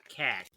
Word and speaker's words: Kaak: It's spelled Kaak and definitely pronounced cack.